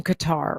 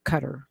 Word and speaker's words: Qatar: It was a $400 million luxury airliner from Qatar or Qatar. I hear people pronounce it both ways.